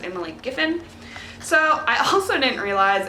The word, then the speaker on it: Emily Giffin: for last month that i was saying her name wrong the whole time i kept saying emily griffin and her name is emily giffin so i also didn't